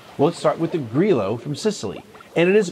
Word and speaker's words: Grillo: isn't like Spanish where it's like a Y, so it's not Grillo. It's Grillo. I mean, there might be a little bit of a Y, like Grillo, all right? I think that's how they pronounce it. But it's a little bit different than Spanish.